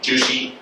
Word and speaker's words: Zhu Xi: So in order to get a handle on his name, you can think of the word juicy like juicy fruit and that gets you kind of close to the pronunciation.